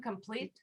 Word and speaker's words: complete: stress on second syllable again. Complete.